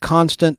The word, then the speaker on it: Constant: It looks like constant, but it's probably Constant. Like croissant. Croissant.